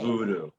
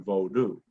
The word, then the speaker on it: Vodou: meaning that pronunciation, Okay. Voodoo, rather than Vodou, right?